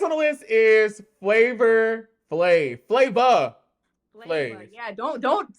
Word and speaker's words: Flav: Next on the list is Flavor Flave.